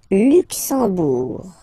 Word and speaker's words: Luxembourg: Le Luxembourg, okay, final G not pronounced, and then when you combine this E, M here, you get the sound en, en. You don't pronounce the M at all, it's this nasal en, okay?